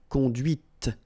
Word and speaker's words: conduite: and then the feminine, conduite. Okay, so here you can listen to this t, t, okay?